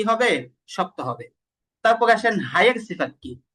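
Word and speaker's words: ه: তো হা নরম হরফ আর হা এর আরেকটা সিফাত হচ্ছে হা উচ্চারণ করার সময় বাতাস চালু থাকবে।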